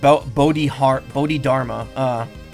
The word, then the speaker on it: Bodhidharma: Looks like it's pronounced Bodhidharma.